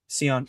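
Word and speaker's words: Sion: It's going to be if if Scion if if Scion James can or is it Scion or Seion? I don't want to pronounce it. Seion. Okay. because it's not like Zion.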